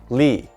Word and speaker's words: 立: similarities with the ancient character this character is pronounced li and it means stand it is used in